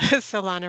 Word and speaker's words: Alana: Is it Alana? Yeah, that's pretty close. Alana rhymes with iguana.